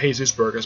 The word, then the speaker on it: Jesus Burgess: That's really the guy's name, Jesus Burgess. Though people call him Jesus Burgos, but basically that's how they pronounce the guy's name, Jesus Burgos.